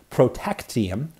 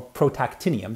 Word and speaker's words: protactinium: showing thorium decaying into protactium or protactinium this is our left a syllable off there right and we